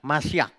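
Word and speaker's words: משיח: Nah, kalau ini mungkin sebagian dari Bapak Ibu pernah dengar, Masyak.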